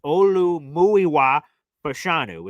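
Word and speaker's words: Olumuyiwa Fashanu: Olu Muiwa Pashanu is how we pronounce our left tackle's name.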